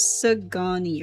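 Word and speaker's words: Szgany: we have the ger I would say sisani but I just want to make sure si pronounce sagani. So, I would I'm over here trying to pronounce the Z when I think it's uh it's quiet. Si or Sagani Sigani, but it says Sagani right here.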